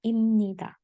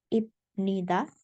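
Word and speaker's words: 입니다: imnita nah ini dibacanya imnita jadi ketika ketemu sama n dibacanya m Jadi bukan ibnida tapi imnita imnid ini artinya adalah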